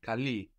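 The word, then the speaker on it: καλεί: And you're keeping the accent on the end there. Mas kali.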